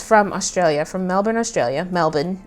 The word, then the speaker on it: Melbourne: Melbourne is how they say it.